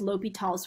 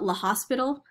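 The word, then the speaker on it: L'Hôpital's: we have to use l'hopital's rule i sometimes call it l'hospital just so i can remember how it's spelled and also that's what it looks like um but i'm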